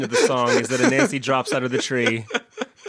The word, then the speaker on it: Anansi: Is Nancy a spider or is Nancy... It's Anansi. Anansi. Anansi or Anansi, yeah, depending on how you say it.